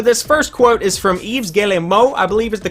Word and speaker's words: Yves Guillemot: And so this first quote is from Yves Guillemot, I believe is the correct pronunciation, and the entire quote will be right over here.